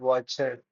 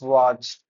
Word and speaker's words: watched: You won't stress on that watch it. It's watched, not watch it.